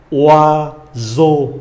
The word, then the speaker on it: oiseau: Chúng ta quen âm O này, S đọc là Z. Oiseau là con chim.